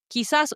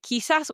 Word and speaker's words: quizás: Now, notice I didn't say quizás, I said quizás because I'm practicing that K sound. Whenever we see QUE or QUI, we're pronouncing it as the K sound in English.